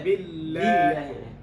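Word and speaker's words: بالله: Clarify the kasrah. Don't say 'bellāhi'. say 'billāhi'.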